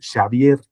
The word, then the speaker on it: Xavier: colmo no es que escriba su nombre con X, sino que lo pronuncie con un arcaísmo como SH, digamos, Xavier y Rrutia, ¿no?